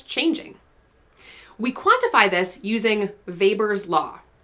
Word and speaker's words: Weber: We quantify this using Weber's law. It's spelled with a W, he's German, you say Weber.